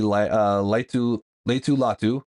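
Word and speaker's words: Laiatu: pay who's who we all know and rookie Leu Leu latu right as they pronounce his name um tavin Brian Gro and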